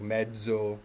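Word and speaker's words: mezzo: come up a lot like medzo ahmed so soprano has has the d sound in it um so whenever this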